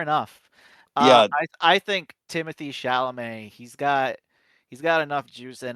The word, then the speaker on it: Chalamet: You have to say it like this. Alex, say it. Chalamet. You gotta say it like Adam Sandler.